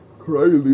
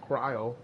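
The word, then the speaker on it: Krile: I thought it was Cryly, but I guess it's pronounced Cryo.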